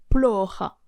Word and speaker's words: Плохо: Et en gros, en russe, le O qui n'est pas accentué se prononce comme un A. En l'occurrence, dans le mot plora, c'est le premier O